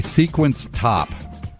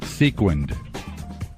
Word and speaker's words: sequined: We heard you say sequence top. Sequence top, yeah? Sequined. A top with sequins on it.